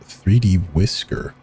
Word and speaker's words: 3dwiscr: The full title is 3D workers island, but most of us prefer to use its file name and state pronounced 3D whisker.